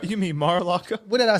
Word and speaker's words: Mar-a-Lago: You mean Mar-a-Lago? What did I say? Marcialago.